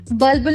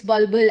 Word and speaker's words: Bulbul: It has an U, you see? The vowel you missed it.